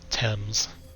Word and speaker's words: Thames: But anyway, yeah, I can't believe they just pronounced it Thames, or it's supposed to be pronounced Thames, unless you're completely clueless, or like a typical American.